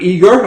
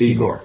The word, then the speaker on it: Igor: So Igor, why don't you tell everybody, is it Igor or Igor? Igor, yes. Igor, yeah. So the American pronunciation is Igor because of Ivan, but I prefer it Igor, yeah.